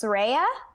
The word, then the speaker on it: Sreya: I pronounced this correctly, I think it's Sreya. Is that right? Please correct me. It's right. I pronounced it correctly? Hey, yeah, you did. Yeah, you did. I know people get confused because there's no H, but yeah.